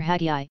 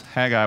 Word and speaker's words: Haggai: Haggai, for your information, is not pronounced like that. It's minus an H, actually. Their H was silent, depending on where you find it in the word, and often when it's the beginning of the word. And so pronounce Haggai without the H, and what does it sound like? Sounds like an Aggie, right?